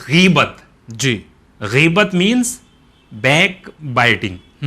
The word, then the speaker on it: غیبت: اور وہ جو جس کی ہم بات کر رہے ہیں اس کا جو کریکٹ ایکسینٹ ہے یا بالکل ایک دم پروپر پروننسیشن ہے، اس کا تلفظ ہے غیبت.